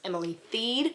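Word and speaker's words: Emily Thiede: have learned that the author's name is actually pronounced Emily theed so this fish is Grace by Emily theed and I gave this one three and a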